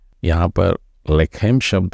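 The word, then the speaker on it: לחם: बेत लेहम बोलते हैं ह का उच्चारण भी आपको गले में पीछे गहराई से लेने का है तो वह हो जाता है बेतले हेम तो यहां पर भी वही लेकम है और लेकम यानी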